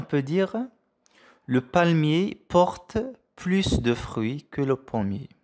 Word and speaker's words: plus: fruits que le premier donc la prononciation des plus donc plus haut on a plus de fruits donc on a il s'agit de de la quantité donc prononce le S d'accord on dit le palmier